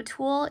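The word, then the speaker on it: TUL: So Tool is spelled T-U-L, and they make a line of notebooks and now planners too, I believe.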